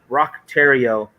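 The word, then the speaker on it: Thériault: that by the way his last name is well his entire name is french french canadian if you will um but rock tario is the america way to do it so i'm going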